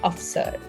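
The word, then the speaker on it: अफ़सर: ये एक English borrowed word है, इसका मतलब होता है ऑफिसर और हिंदी में हम इसे प्रोनाउंस करते हैं अफसर।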